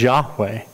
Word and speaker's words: Yahweh: But most scholars believe that now the way you pronounce it is Yahweh.